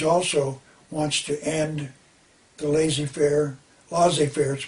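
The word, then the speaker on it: laissez-faire: john meter keynes also wants to end the lazy fair loss affairs pronounced losses fair capitalist system why why would he want to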